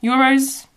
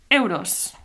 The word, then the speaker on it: euros: So, in all Catalan-speaking regions, they use euros, I'm pretty sure. And it's the same word, but just pronounced a bit different. So it's euros. Euros. Euros. It's more like an open e.